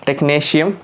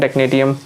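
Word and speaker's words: Technetium: टेक्नीशियम, what is टेक्नेटियम बोलो, टेक्नीशियम बोलो, सो टेक्नीशियम is pronunciation, टेक्नेटियम बोलते याद रखने के लिए टेक्नेटियम रख सकते हो।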